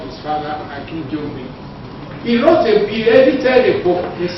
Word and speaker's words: Akinjide: Did you hear her pronounce the name Akinjide? It's not Akinjide, it's Akinjide. The late professor told me that the meaning of Akinjide that it's a drum.